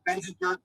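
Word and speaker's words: Benziger: Glen Ellen's Benzinger? I don't drink, so you're going to have to pronounce this for me. Tell me about... right. Benzinger, that was correct.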